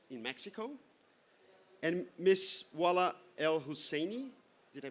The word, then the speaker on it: El Husseini: Wala El Husseini, did I pronounce that correctly? El Husseini, thank you, Wala, Executive Director of Global Compact Network in Egypt.